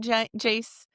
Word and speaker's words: Jace: I honestly thought it was sounding like Jack at first. That's what I was going to say. You pronouncing the A little weird.